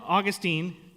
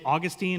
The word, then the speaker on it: Augustine: And his name was actually pronounced in a couple of different ways because of where he grew up and where he went. So, you can say Augustine or Augustin.